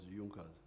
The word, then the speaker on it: Junker: It is written in Junkers, but they pronounce it as Junkers.